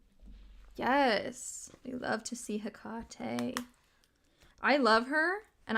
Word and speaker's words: Hecate: I used to say Hecate, but I've heard a lot of people say Hecate, who, like, they sound like they know what they're doing. So I'm like, okay, I think that's how you say it.